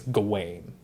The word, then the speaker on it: Gawain: his name and i i believe the actual pronunciation is gawain because it's w-a-i-n just like my name being rain so i think it's gawain but this pronunciation we